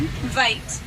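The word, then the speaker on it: wyd: Their name comes from a mispronunciation of an Afrikaans word, vite, and vite means wide.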